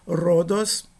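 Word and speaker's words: ῥόδος: Rhodos, significa rodas, né? Então, Rome ou Rome, tanto faz a pronúncia.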